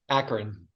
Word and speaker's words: Akron: that correctly how do you say it Matt Akron Akron okay where he studied chemical engineering and